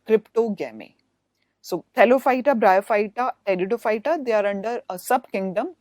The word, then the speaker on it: Pteridophyta: In this case, P is silent, so we pronounce it as Pteridophyta.